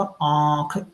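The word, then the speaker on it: आँख: जैसे आंख को हम प्रोनाउंस करेंगे तो कैसे आएगा? आंख। देखिए, मुंह भी ओपन हो रहा है और नाक भी, दोनों में से साउंड आ रही है।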